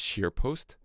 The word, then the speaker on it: ScheerPost: Go and visit him at, he mentioned it a few times, he has his only major outlet at the minute is SharePost. So it's spelled SCHEERPOST, SharePost, all one word, and Chris